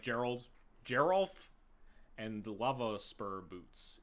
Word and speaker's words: Geralf: a little bit and Geral is hard G hard G is the G sound soft G is a j sound man I'm it's GNA